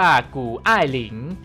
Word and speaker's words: 谷爱凌: ไอรีน ฝน กู้ หรือ ถ้า เป็น จีน แท้ ๆ จะ สะกด และ อ่าน ว่า กู อ้าย หลิง โดย ชื่อ ไอ รี